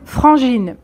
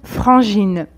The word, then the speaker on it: frangine: L'équivalent appartenant au registre familier est une frangine. Une frangine. Donc franc comme dans français et ici GI se prononce J comme je, d'accord?